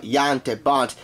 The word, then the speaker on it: Jan de Bont: they all deal with Jan de Bont, or Jan de Bont, to be more culturally correct. It is a Dutch pronunciation after all.